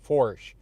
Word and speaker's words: Foertsch: My last name is German as well. Forsch is how it's pronounced.